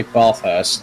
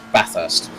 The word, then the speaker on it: Bathurst: that one because there if you say bar first no it's bathurst that's how the aussies say it so you've got to